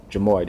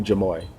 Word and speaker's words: Jamoye: Is it Mayo or Mayo? Steve Mayo. Not too sure how his countrymen pronounce that. Jamoye. There it is. Steve Jamoye. I was off on that one. Kept saying Mayo. Jamoye.